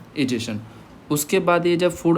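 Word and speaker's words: ingestion: इजेशन इंजेशन बोलते हैं इसको।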